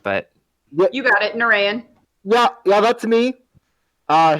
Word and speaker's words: Nureyin: blessed be all right um is that you nerarian i race pronounced the name but you got it narayan yeah yeah that's me uh hazel hazelnut um